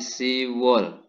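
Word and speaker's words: 시월: yuk wall berikutnya untuk bulan Oktober 10 ini kan sip ya tapi berubah menjadi simbol ya Jadi untuk yang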